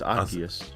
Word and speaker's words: Arceus: He sounds better like if you pronounce it Arceus. Is that how you pronounce it? No, you're right. It's Arceus. Arceus. That's how they pronounce it from the event, but Arceus sounds way better.